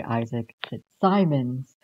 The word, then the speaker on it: Fitzsimons: This is The Passing Playbook by Isaac Fitzsimons. While editing this video, I found out saying Isaac was made wrong because I thought it had two M's, but this is actually Isaac Fitzsimons, not Fitzsimons.